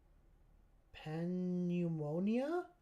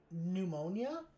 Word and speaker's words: pneumonia: Panummonia. Panamonia. I'm assuming just like from being scared or frighted. So that's that's the difference between the two. Like oh, silent P. Oh, pneumonia.